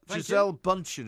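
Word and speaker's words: Gisele Bündchen: Giselle Bundchen is the correct pronunciation.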